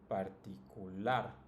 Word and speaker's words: particular: Now if you notice, it's also the last, right? The last syllable that's pronounced the strongest. Celular, familiar, particular, peculiar, and popular.